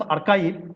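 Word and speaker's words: arXiv: Then you see, actually this is pronounced as archive, but it's XIV.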